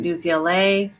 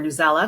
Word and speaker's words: Newsela: can include things from new zla or youtube video this was a youtube video here i have a new zla article or newsela depending on how you pronounce it and i have the